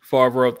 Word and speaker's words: Favreau: Favreau.